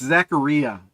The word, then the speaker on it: Zacharia: my own opinion it's it's Zacharia it rhymes with mam Mia because it's Italian trust me I used to say Zachariah and then I used I was getting corrected all the time so Zacharia Zacharia Cha